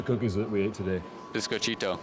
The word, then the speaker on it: biscochito: that we ate today biscochito yeah there you go it's not that hard the key is to remember there's cheat in there biscochito yeah yeah I've been